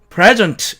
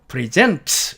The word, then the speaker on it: present: 다음에 present로 철자된 이 단어는 present, 이렇게 앞쪽에 액센트를 주면 명사로서 선물이라는 뜻이 되고 present, 이렇게 뒤쪽에 액센트를 주면 동사로서 선사하다라는 뜻이 된다는 뜻입니다.